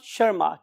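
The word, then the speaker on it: Tschermak: वास ए वन शर्मा इस लैंग्वेज में T Asus silent one शर्मा इन तीन साइंटिस्ट ने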